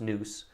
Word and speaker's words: NUS: Okay, nuclear upper stage, yes, which you would be NUS and pronounce noose.